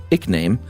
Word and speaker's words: eke name: Looks like the term started as a Middle English word in the 1300s, EKE name, pronounced ickname, meaning additional name.